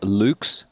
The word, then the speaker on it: Lux: I believe it's pronounced Lux. Yeah, you're right. The Lux. Just like the Deluxe.